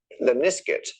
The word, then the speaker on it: Lemniscate: And he did a video about this particular mathematical curve, which is called Lemniscate, because it rhymes with biscuit.